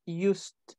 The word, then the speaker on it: used: Okay, just be careful with the pronunciation of used. Used. Okay, the used. Yeah, the E doesn't sound.